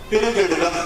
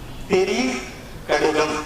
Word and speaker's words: திரிகடுகம்: திரு அப்படின்னு நம்ம சாதாரண சொல்லும்போது என்ன சொல்லிடுவோம், திருக்கடிதம் அப்படின்னு சொல்லிடுவோம். ஏன்னா நம்ம திருவாசகம், திருமுறை, திருவில்லியனூர் இந்த மாதிரி இந்த ஊர் பேர்லாம் எப்படி வரும், திருவோடு சேர்த்து வரதுனால திருன்னு வந்துடும். ஆனா சரியான உச்சரிப்பு இந்த நூலுக்கு என்ன, திரி கடிதம் அப்படின்னு. திரி அப்படின்னா என்ன, மூன்று. நம்ம த்ரீன்னு சொல்றோம் இல்லையா, இங்கிலீஷ்ல அதான் இருக்கு, நமக்கே அப்படிதான். திரினா மூணு.